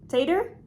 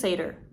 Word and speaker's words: satyr: So I found out that you say it satyr. Satyr? I think it's satyr. So why would you do that? Why would you write S-A-T-Y-R and then say satyr?